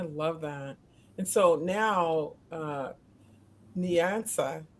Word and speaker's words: Nyansa: And so now, Nyansa, correct me, say it right. Nyansa goes to college.